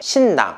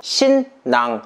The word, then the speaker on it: 新娘: 우리나라에서는 신부란 단어를 쓰고 있는데 중국에서는 신부란 단어 대신에 신낭, 중국식 발음으로 신양이라는 단어를 쓰고 있습니다.